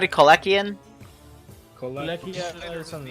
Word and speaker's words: Kolechian: How do you say it again? Kolechian. Kolechian, thank you.